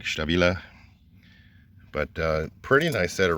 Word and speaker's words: Stabila: The American in me wants to say they're pronounced Stallwilly. I know it's actually pronounced more like Stabila.